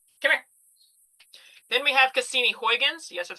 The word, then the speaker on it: Cassini Huygens: Then we have Cassini Huygens. Yes, that's how you pronounce it.